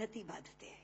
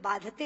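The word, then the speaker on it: बाधते: कष्ट दे रहा है क्योंकि बाती शब्द का अशुद्ध उच्चारण आपने किया है यह शब्द बांधते होना चाहिए भार न बाती राजन यथा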